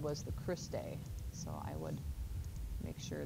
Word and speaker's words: cristae: this and then the membrane is called the cristae and that is spelled see our I s T Christie so that's the membrane just like the stroma